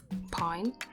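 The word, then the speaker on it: pagne: um lots of these beautiful dresses and outfits that are made of pine, which is like not the tree pine, not that, but it's spelled P A G N E or also known as like African wax fabric prints.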